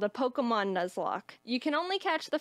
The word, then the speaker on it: Nuzlocke: this this is i attempted my first pokemon nugslock is am i saying it right it's actually pronounced nuzlocke nuzzler thank you see that's why i brought